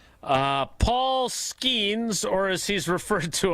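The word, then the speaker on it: Skenes: Paul Skeens, or as he's referred to on our show, because Tausch mispronounces his name, Skeenis, won 11 games last year.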